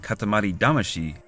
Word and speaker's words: Katamari Damacy: would come up with the name katamari damashi often pronounced katamari damasi overseas and never look back